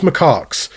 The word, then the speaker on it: macaques: I totally did not Google how to pronounce that so I could say it properly in the video. Japanese macaques is how you say it.